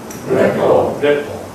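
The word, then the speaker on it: rapport: 이거 불란서 말인데, 이거 진짜 발음을 안 합니다. 그래서 여러분 따라해 보시면 레포.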